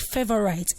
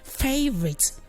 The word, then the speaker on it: favorite: Most people call this word favorite, and some will tend to pronounce it rightly and then say favorite. But whichever one, please, it's not still right. Just try to say favorite.